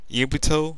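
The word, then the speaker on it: Yugito: And I don't know, I might be doing how to make Yubuto, that's how you say her name, the Two Tails Cherokee.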